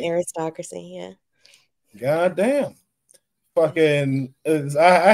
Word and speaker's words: Eristocracy: Yeah, it's a play on the word aristocracy, so It's just pronounced the exact same way. So it's aristocracy, like aristocracy.